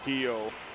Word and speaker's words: Guillou: Was it Guillou, the pronunciation, yeah. Patrick? Yeah. Guillou.